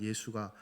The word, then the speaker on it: 예수: 여호수아의 헬라식 발음이 예수입니다. 예수. 같은 이름이란 말이에요. 근데 그 여호수아와 마리아를 통해서 잉태되어지고 태어난 예수가 똑같습니까?